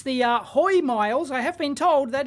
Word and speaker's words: Hoymiles: going to tear it down it's the uh hoi miles I have been told that is the correct pronunciation uh they make solar inverters and uh